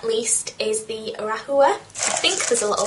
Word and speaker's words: Rahua: and then last but not least is the rahua I think there's a little thing of how you pronounce that oh you pronounce it rawa is in like rahua Raa um and this